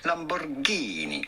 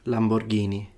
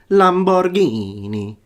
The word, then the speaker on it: Lamborghini: But how would you say it with the true Italian pronunciation? It would be Lamborghini. You do want to insist on the Ghini part. Lamborghini. Not Lamborghini.